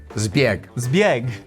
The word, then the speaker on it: Zbjeg: Is it pronounced zebie? Zieg.